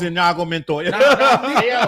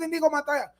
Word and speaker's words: Inigo Montoya: Oh, what about My name is Inago Mentor.